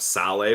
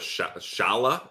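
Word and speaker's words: Šalé: Ross and I were going with the pronunciation of sale but we'll we'll go with Shala is that how yeah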